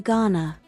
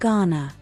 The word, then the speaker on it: going to: Notice how the speakers sometimes pronounce going to Ghana. In fast speech, tick the sentences where going to is pronounced Ghana.